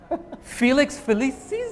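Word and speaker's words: Felix Felicis: I know I can't recommend that game enough Felix felices yes that's how you pronounce it's nice and simple it's the it's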